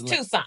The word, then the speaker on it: Toussaint: So Miss Toussaint, Toussaint, is that how you pronounce it? It's Toussaint.